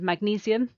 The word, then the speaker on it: magnesium: Then we've got titanium and magnesium, so ti, tain, e, mag, knees, e, both of those have 4 syllables.